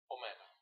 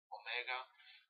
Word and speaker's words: Omega: V Rho Sigma Tau Omega the things you remember very basic and important ordered Omicron and Omega are pronounced exactly the same in Reverse all so